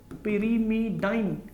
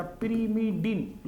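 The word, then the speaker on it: pyrimidine: है, यहां लिखना पड़ेगा, पिरीमिडाइन या पिरीमिडीन लिखते हैं लोग, बोलने का तरीका है, स्पेलिंग तो ठीक रहेगी, वही A और G और U T और C, ये हमारे पास हो गया।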